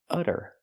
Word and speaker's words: utter: it was utter chaos we see the Double T pronounced as a fast D because it's between vowels utter utter it was utter